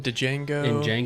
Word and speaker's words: Django: name i can't remember he's in django he's in hatefully the d is silent man he says it